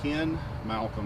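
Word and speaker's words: Ken Malcom: My name is Ken Malcolm, and it's spelled K-E-N.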